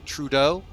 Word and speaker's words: Trudeau: All right, so we are on our way passing Montreal Trudeau. Is that how this is pronounced? Hang on. Yeah, Trudeau.